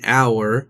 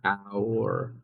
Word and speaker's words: hour: Conversely, we say an hour because the H is silent, making it start with a vowel sound. An hour, hour.